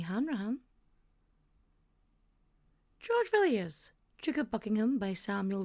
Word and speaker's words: Villiers: Del a because I really want to go viler because it's a French name viler but it's vilers I've been told it's vilers that's the British